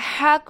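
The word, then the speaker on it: ه: இந்த ஹ வந்து 3rd போர்ஷனில் இருந்து ப்ரொனவுன்ஸ் ஆகுது. 3rd portion of the throat. ஹ, ஹ. கீழே இருந்து நாம் சவுண்ட் கொண்டு வரணும்.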